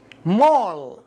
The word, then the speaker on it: mall: صحيح، مول. مول، الإي مضموم بسبب الإل إل.